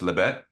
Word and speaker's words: Lês Betes: And your film, which I found out after I recorded my little awards thing, is pronounced Lês Betes, correct?